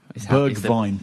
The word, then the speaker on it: Bergwijn: Stephen Bergwijn, I believe. Bergwijn. Is the pronunciation.